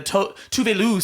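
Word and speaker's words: Tove Lo: She sang Stay High, the Tuvelu song with Postmodern.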